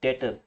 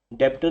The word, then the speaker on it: debtor: और कस्टमर को accounting language में बोलते हैं डेटर। बी साइलेंट है, डेप्टर नहीं बोलना, बी बीच में दिखेंगे ऐसे, DEBTOR, बी is silent, डेटर।